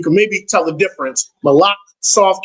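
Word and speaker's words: מלך: And then malach, really with the cha, malach is M-A-L-A-C-H. Malach. There's a cha at the end. Malach. So you can maybe tell the difference. Malach, soft K, malach.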